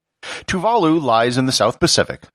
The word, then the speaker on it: Tuvalu: the way it's pronounced tuvalu with the accent on the second syllable not tuvalu with no syllable accented tuvalu lies in the south